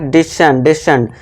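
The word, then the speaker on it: descend: ठीक है दोस्तों, फिर नेक्स्ट है डिसेंड। अब ऐसी है तो इसका उच्चारण भी क्या हो जाएगी, सा हो जाएगा, तो इसे क्या पढ़ेंगे, डिसेंड यानी कि उतरना।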